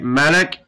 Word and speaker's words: مَلَك: And as we said, with a fata, it's angel. With a kasra, it's king. So make sure we say it right, right? Malak, with a fata, is an angel.